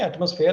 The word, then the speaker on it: atmosphere: So you are basically saying atmosphere has a stress on the first syllable.